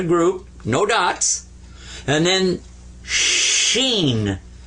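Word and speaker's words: ش: then sheen like this now here you've got three dots and you've got the three stems coming up now this one is seen like a regular s and this one is sheen there you are now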